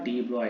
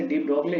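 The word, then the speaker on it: de Broglie: वो तुम्हारा दिया था डी ब्रॉय ने, डी ब्रॉय हाइपोथेसिस। लिखते हालांकि इसे हम लिखते इसे डी ब्रॉगली है, मगर इसे हम प्रोनाउंस करते हैं डी ब्रॉय हाइपोथेसिस।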